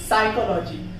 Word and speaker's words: psychology: जैसे साइकोलॉजी, PSYCHOLOGY, साइकोलॉजी में S लिखा हुआ है, उसके पहले P है तो वहां पर साइलेंट हुआ है।